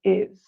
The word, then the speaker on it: his: I will tell you you often don't hear the H at all it's dropped exactly so H is not pronounced so his becomes is his brother is brother